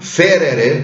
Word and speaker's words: ferre: Ferrere, ferrere wird zu ferre mit Doppel-R. Das ist einfach schlampig ausgesprochen.